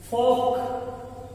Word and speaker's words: folk: नजरअंदाज करना, नजरअंदाज करना, फोक FOLK, फोक एल साइलेंट रहेगा, कबीला, कौम, फिरका, ट्रेडिशन